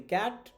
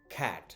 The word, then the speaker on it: cat: আমরা বলি ক্যাট, the pronunciation would be খ্যাট। Look, স্ল্যাশের মধ্যে কিন্তু শুরুতে কি আছে? খ সাউন্ডটা আছে। সো কি বলতে হবে? খ্যাট, খ্যাট, খ্যাট।